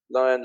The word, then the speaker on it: Lian: lion by the way my name is pronounced lion but it doesn't matter lion lion and L and